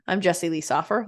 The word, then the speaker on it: Soffer: Jesse Lee so actually his name is Soffer oh I've been pronouncing it so far I'm pronounced it wrong too so but I heard